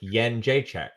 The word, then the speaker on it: Jędrzejczyk: it's like Asian currency. Try to follow me here, Joe. Asian currency. The first letter of my name. Right? And Czech, like Czech Republic. Yen Jacek. Young Jacek. Yen Jacek. Young Jacek. That's how I pronounce it, anyways.